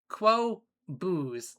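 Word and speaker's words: Qobuz: to a service called and it's hard to pronounce. It is Quo Booze. Here, let me show it. Yeah, that's the client right there. Q B U Z Quobos.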